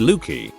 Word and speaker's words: Luci: form of their name so for lucious it's lucy pronounced looky i didn't exactly always